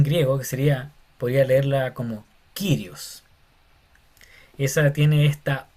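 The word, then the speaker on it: Κύριος: Y se pronuncia Kyrios y no Curios porque parece una U. Hay gente que le dice Curios, otro le dice Kyrios, pero la pronunciación más cercana al original sería como Kyrios.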